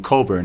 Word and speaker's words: Cockburn: PR pronounces his name Coburn I'm not blaming him for that if my name was spelled cockburn I'd pronounce it Coburn too hey I change the